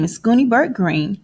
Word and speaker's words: Greene: My name is Gooney Bird Greene. That's Greene with a silent E at the end.